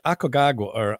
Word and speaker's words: Aconcagua: Hey, man, I butchered a couple of those, and I think it's Aconcagua. Aconcagua, yeah. I butchered it, and I read like a third grader, so I apologize for that.